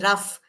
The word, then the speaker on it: rough: Similarly, in ROUGH, it sounds as rough. So the sound of OUGH here is uff.